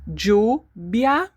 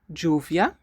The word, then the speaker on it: lluvia: Okay, so once again, we have 4 different pronunciations for words with doble L. This one, we can say lluvia or lluvia, lluvia or lluvia.